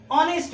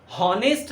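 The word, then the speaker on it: honest: इसको हॉनेस्ट नहीं पढ़ते हैं, ऑनेस्ट, करेक्ट।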